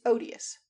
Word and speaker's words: odious: At home, I had always heard the first syllable of this word pronounced with a long O, like ode. But Msie and Madame Swan made it short, as in odd.